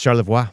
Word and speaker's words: Charlevoix: technically be dick handling well Charlevoix is that correct or would that be Charlevoix it's Charlevoix yeah quick little fun piece